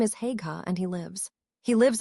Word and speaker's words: Haigha: His name is Haigha." He pronounced it so as to rhyme with mayor.